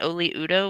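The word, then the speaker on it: Oli Udoh: I believe that's how you say it, is Oli Udo, which is a little fun to say.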